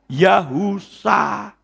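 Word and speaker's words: יהושע: Yod He itu Yah, itu betul. Wow, kalau sudah dikasih wow itu jadi Yahu. Shin Ayin dibaca Sa. Jadi Yod He wow Shin Ayin itu bacanya Yahusa. Gitu loh.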